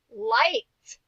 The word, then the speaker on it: liked: Liked. Liked. Say it with me. Liked. She liked the ice cream she was eating. Yeah, we hear the T sound at the end.